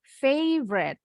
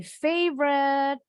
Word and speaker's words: favorite: Ini bacanya favorite. My favorite. Jadi kalau orang bahasa Indonesia kan bacanya favorit. Di bahasa Inggrisin favorite. No, favorite bacanya.